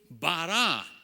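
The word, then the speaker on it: בָּרָא: In Hebrew, bara. Same word. Just they pronounce it differently.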